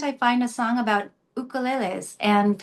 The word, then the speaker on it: ukulele: Why can't I find a song about ukuleles and having it pronounced ukulele, the Hawaiian word, because it's a Hawaiian word." Um, by the way, there's no Y or Y sound in the Hawaiian language.